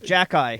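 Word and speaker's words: Xhekaj: h e j a j oh yes it's pronounced jackey it's arbor jacket jackey it's funny i a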